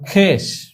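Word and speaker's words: خویش: যেমন খেস, খে ওয়াও ইয়ে শিন। তো এখানে সরাসরি খে যদি ইয়েকে ধরতো উচ্চারণের ক্ষেত্রে তাহলেই হয়ে যায়, অর্থাৎ ওয়াটি উচ্চারণে আসেনি, খেস।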